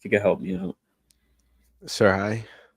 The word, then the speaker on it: Serhii: Serhii? Sergey. There's no G in there. It's no G.